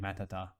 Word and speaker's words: Matuhtuh: But like, Why is it Matuhtuh? because in Matt there's two T's. So like if you were to jokingly pronounce both T's, it would be like Matata.